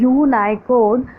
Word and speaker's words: Unicode: next है data representation, यूनिकोड pronounce as यूनाइकोड produces यूनिक numbers of